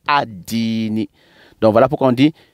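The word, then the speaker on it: الدين: Le Di, il fait partie des lettres solaires. Donc, on dit adini. Donc, les yaoumi, les mi des yaoumi, on les fait rentrer dans les di, sans prononcer al yaoumidin. On dit maliki yaoumidini. Yaoumidini. Maliki, ensemble. Maliki yaoumi dini. Donc on ne dit pas al-dini, on dit ad-dini. On ne dit pas al-dini, mais on dit ad-dini.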